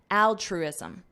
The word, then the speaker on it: altruism: comes down to altruism notice the pronunciation here we have the word true ISM put that together trism trism that's a trism that's something that is true and then you add Al Al altruism altruism altruism this is the noun